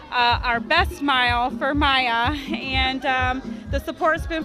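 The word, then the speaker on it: Miah: great way meaning that we call him maya his name is spelled m-i-a-h and to me that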